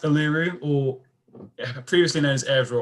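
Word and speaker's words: Uluru: one the tri yeah exactly number two it's pronounced aluru or previously known as a ASRock but it's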